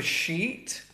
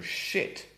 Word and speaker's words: sheet: the long E for sheet, but then we have the short I for shit. Be careful here.